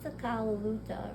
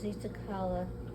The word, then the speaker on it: Luta: Z what is it Zuta red bird a lot of people would say it was zala I want to say which is the different pronunciation for red but it's not and I can't even